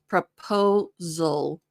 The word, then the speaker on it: proposal: The second one is O, like no, po, proposal. So not sal, but zul.